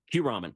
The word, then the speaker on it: Kyuramen: And by the way, this place is spelled Kyuramen, Kuramen. Q-ramen, Very exactly. good. Q means 9 in Japanese, and they offer 9 different types of ramen.